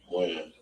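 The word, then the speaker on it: Wynn: Win. Win or Wan? Win. Win. W-E-N or W-I-N? W-Y-N-N. W-Y-N-N.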